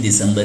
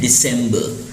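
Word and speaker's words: December: दिसंबर लिखा रहता है, लेकिन इंग्लिश में इसका प्रोनाउंसिएशन जो सही है वह होता है दिसंबर, और लास्ट में जो वर्ड में R है वो साइलेंट होता है, तो इसको हम कहते हैं दिसंबर।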